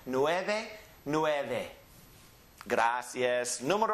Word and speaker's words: nueve: easy one read it or Cho and then Nueve Nueve two syllables the first syllable is nowhere and the last syllable is back Lou back Nueve and again most people that are living in